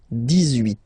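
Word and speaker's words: dix-huit: Okay, then 18. So you will make this little link between the two, the liaison. 18, 18, 18.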